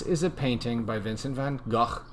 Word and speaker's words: van Gogh: it painting by Vincent van Gogh van Gogh we Americans say van Gogh I love obviously you